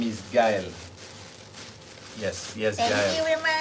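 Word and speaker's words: Gaël: That's why you say Gael. Because without those two dots, my name would be Gael.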